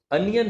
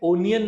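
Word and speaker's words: onion: अनियन होता है, ओनियन नहीं होता, ठीक है।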